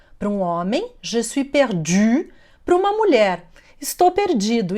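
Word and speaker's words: perdue: A diferença é que na ortografia o feminino tem um E no final, mas a pronúncia é a mesma. Je suis perdu para um homem, je suis perdu para uma mulher.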